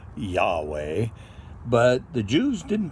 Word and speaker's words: Yahweh: So, Romanized Christians pronounced it Jehovah, and a little more educated ones realized the Jews didn't have a J sound, so they say Yahweh.